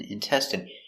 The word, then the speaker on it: intestine: next we have intestine so remember the INE is pronounced in in intestine one intestine two intestines